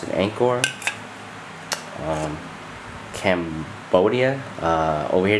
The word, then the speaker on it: Angkor: most popular beers here this is Anor they pronounce it Anor um Cambodia uh over here they pronounce it